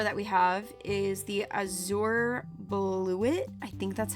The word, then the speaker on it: Azure Bluet: The next flower that we have is the Azure Bluet. I think that's how you say it. Hey guys, it's Mayhem from the future. You actually pronounce it Azure Bluet. It almost sounds like I sure blew it.